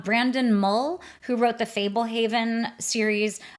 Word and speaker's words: Fablehaven: When my kids were reading it, we called it Fabelhaven, which I think we just were putting a little German flair on it. But I'm fairly certain that it is pronounced Fablehaven by Brandon Mull.